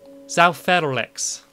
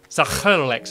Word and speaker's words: Zael Feral X: Zael Feral X. That's how you pronounce it. Zael Feral X. It's just that in the back of the throat.